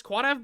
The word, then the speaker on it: Quadav: Is Quadav bad? Dude, plotting. Number 1, that's the correct pronunciation.